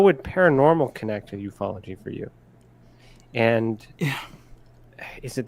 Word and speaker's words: ufology: Ufology, which I it's eupfology, by the way, in case you said it wrong.